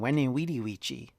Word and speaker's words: Veni Vidi Vici: The idea of the old Veni Vidi Vici from the classic Caesar quote is actually more likely in classical pronunciation Veni Vidi Vici. So in other words, it was W sound rather than a V sound.